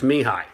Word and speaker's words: Mihai: You can call me." And I'm like, "No, I got it. It's Mihai. All right, I got it down." Because if you look at how it's spelled, you can't sound it out phonetically.